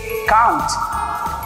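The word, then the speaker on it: can't: इसको हम प्रोनाउंस करेंगे कांट.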